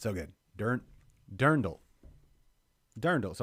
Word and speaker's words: dirndl: slash drendel drag the durin how do you pronounce that oh it's dirndl no that's what brendan's saying dirndl not i'm